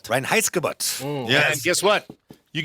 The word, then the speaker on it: Reinheitsgebot: Can you pronounce the name of the law? I cannot. The Reinheitsgebot. The Reinheitsgebot. Reinheitsgebot.